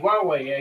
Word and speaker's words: Huawei: did you say puai oh Huawei yeah Huawei Huawei exactly sorry I said it wrong no it's